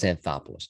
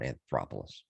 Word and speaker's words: Anthopoulos: really really impressive and i said alex antopolis name wrong last week by the way i want to correct myself alex anthopoulos not anthropolous but anyway hey zario's bat